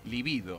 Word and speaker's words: libido: dice los deseos sexuales se denominan libido con acento prosódico en la segunda y en cambio libido